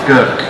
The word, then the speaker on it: Grk: Basically it's pronounced Gurk. It's one of the few languages to have three consonants together, making up a name. So Gurk is from Korčula Island in Croatia, mainly in